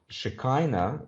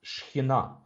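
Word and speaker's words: שכינה: But the idea of Shekinah, that's wrongly pronounced, it's Shekhinah in Hebrew.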